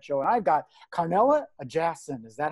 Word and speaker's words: Ajasin: And I've got Carnellia Ajasin. Is that how you say it? Yes, it is. Yes, Ajasin.